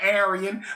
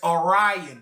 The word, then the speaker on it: Aryan: We pronounce it Aryan, but the real word is Orion. If you write a R or a A Y A N and you look at it, you can clearly see that that that can be pronounced Orion, a lot of the